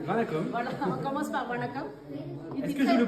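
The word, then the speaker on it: வணக்கம்: Voilà, on commence par Vanakam. Est-ce que je le prononce bien?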